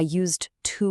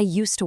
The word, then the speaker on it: used to: I definitely don't say I used to work. That's that robotic choppy way we want to avoid. Listen to the natural flow here. I used to work.